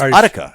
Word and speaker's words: Utica: Well, not really anywhere near Udica, but um we drink our pronounced Utica, actually.